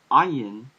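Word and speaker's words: עין: Ayin in modern Hebrew is pronounced similar to Aleph, but in ancient Hebrew it was probably pronounced more similar to the Arabic, which is ayin, sort of like you're going from the very deepness of your throat.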